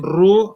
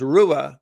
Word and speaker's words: Ruhe: pronounce your name Ru or Ru I said say Ru Ru yeah it's the German it's a German name is pronounced Rua but my family just says ru are you of German